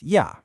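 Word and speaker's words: 夜: And to finish off the line, we have ya, pronounced ya.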